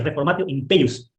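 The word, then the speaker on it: reformatio in peius: Se pronuncia reformatio impeius. ¿Qué es la reformatio impeius?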